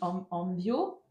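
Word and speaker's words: envío: Envio. Alors, attention à la prononciation. Nos envio. Envio. Porque la acentuación está sobre la O.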